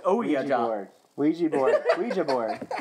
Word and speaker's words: Ouija: Ouija board. Ouija board. It's oui, the French word for yes, and ja, the German word for yes. It looks bad. Ouija is the actual.